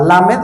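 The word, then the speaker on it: lamed: Israel, la la Lamet, la última, que se pronuncia como una L, Israel.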